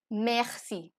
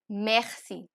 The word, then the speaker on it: merci: Garza that is boy in French so the pronunciation is J ah eh see or o n Garza the next is merci merci m a uh say e that is thank